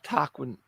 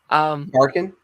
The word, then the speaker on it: Tarkin: And I mean, you've got to remember what the sort of Tarquin... I don't think I'm pronouncing that correctly. Tarkin?